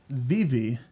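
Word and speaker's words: Vevay: Recently moved to from Northern Kentucky to Southern Indiana, and Vivi is the closest town. I pronounced it the way it was spelled for a bit. Got weird looks.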